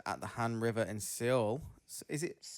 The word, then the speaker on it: Seoul: Uh the video titled a real monster emerges at the Han River in Seoul. Is it Soul? Is it just pronounced Soul? It's Soul.